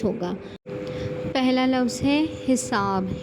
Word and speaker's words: حساب: ہوگا۔ پہلا لفظ ہے حساب۔ حساب میں پہلا حرف ہے مکسور، دوسرا مفتوح اور تیسرا اور چوتھا ساکن۔ اسی کو دیکھتے ہوئے